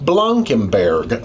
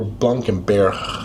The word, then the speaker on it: Blankenberge: to the next door town of Blancenburg or Blancenber depending on French or Dutch pronunciation.